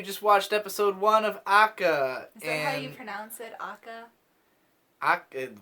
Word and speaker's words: ACCA: watched episode one of akka yeah I did how else would you pronounce CCA I think they were referring to it as akka in the dialogue but I'm not sure